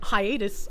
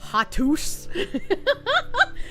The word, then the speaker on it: hiatus: Hiatus. Obviously hiatus. How would you mispronounce hiatus chat? Hi. Hiatis Hatus Hatus I am I am going on Hatus